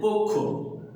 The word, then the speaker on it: পক্ষ: আর এর আগে আমরা ক্ষীয় উচ্চারণের প্রতীকগুলো দেখেছিলাম যে ক্ষীয় যদি শব্দের শেষে থাকে তাহলে তার উচ্চারণ হয় কয় হসন্ত ক্ষয় ওকার, এজন্য উচ্চারণ হয়েছে পক্ষ।